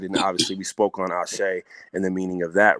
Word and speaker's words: Ashe: You know, like when I was getting interviewed and they said it wrong, and they're saying Ace. Now I'm telling them, no, it means Ashe. You pronounce it Ashe, and this is what it means.